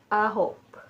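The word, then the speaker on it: 아홉: योधुल ठीक है ना अ होप अ होप जैसे जे होप है इसी तरह अ होप ठीक है अ एच ओ पी अ होप अ होप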